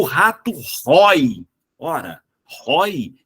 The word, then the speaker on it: rói: ele já é o padrão normal da nossa pronúncia. Porém, céu, o é aberto. Esse cara merece um acento gráfico. O rato rói.